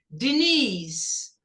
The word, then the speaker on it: Denise: Denise. Corta o E, não pronuncia. Denise, depois do I, aqui geralmente dá um som quase dizer.